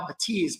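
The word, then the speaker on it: Bathys: At $849, these are the Focal Batiz. By the way, it it looks like it's spelled bathies. Uh, but the French are a little bit different and so it's actually pronounced Batis.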